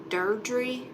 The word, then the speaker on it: Deirdre: It's not Deidre. Hey, Karen. It's pronounced, I think, like Deirdre.